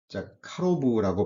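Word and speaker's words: קָרוֹב: 이 가깝다라고 번역된 히브리어 원어는 카로브라고 발음이 되는데요.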